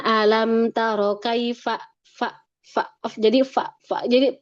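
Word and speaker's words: كيف: Misalkan alam taro kaifa bacanya alam taro kaifa. Fa fa jadi fa jadi pelan atau bahkan kaifa. Nah, kalau kaipa itu huruf P.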